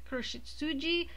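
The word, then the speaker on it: 黒執事: butler or kuru sh i don't want to say it wrong because it sounds like a swear word kuroshitsuji um and uh yeah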